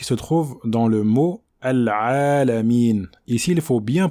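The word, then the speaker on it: العالمين: Donc la lettre ayn passe par la gorge, c'est une lettre qui passe par la gorge.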